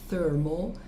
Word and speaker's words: thermal: Especificamente, a primeira, veja, o TH nós falamos thermal. Eu estou exagerando o som aqui um pouco para você perceber o que eu estou querendo dizer.